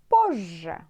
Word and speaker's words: позже: Later, it means позже. Позже. Yeah, it's so bad for you guys to pronounce it, this word, so difficult, because two difficult letters like ж, z. Позже.